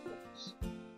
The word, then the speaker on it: Fooks: How do you spell Folks, it? like old folks at home. It's Yeah. spelled F-O-O-K-S. Looks like Fooks. Cool. Pronounced folks like old folks at home, or that's all folks.